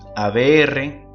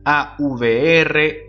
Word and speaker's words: aVR: ABR, ABL y ABF. En otros países se pronuncia AVR, AVL y AVF.